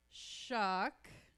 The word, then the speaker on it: Shock: Um, this is Shock. Rhymes with luck.